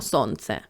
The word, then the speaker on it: сонце: один складів буде наголошеним давайте покличемо сонце со Сонце Сонце перший склад ми вимовляємо з більшою силою голосу значить цей склад буде наголошений наступне слово білка ділимо